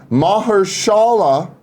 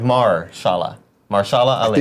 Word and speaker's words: Mahershala: HBO has confirmed today that Moonlight and Luke Cage's Mahershala Ali. That's what it is. Mahershala. Yeah, it's like saying like Marshala Ali. I think you're not giving one of the syllables enough credit there.